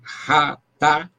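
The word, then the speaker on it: חטא: O seu equivalente verbal é chatá. Pronuncia-se ratá ou H, com H aspirado, que ele ensina aqui, que também não é, como é que diz?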